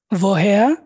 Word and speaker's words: woher: warum, warum, wo, wo, woher, woher, der, wohin। wohin, wohin, এই যে ডব্লিউটাকে আমরা ভি উচ্চারণ করতেছি, সবসময় ভি উচ্চারণ করবেন।